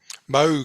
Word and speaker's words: Moog: Did I pronounce that correctly? Moog.